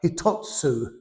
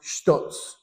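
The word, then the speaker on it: ひとつ: of them, it says what sounds like hitotsu, okay, is all that means is actually pronounced shitotsu.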